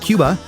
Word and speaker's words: Cuba: Hailing from the island of Cuba, or Cuba if you want to say it correctly, he's hitting us with an eclectic mix of funk, pop, reggaeton, and Latin fusion.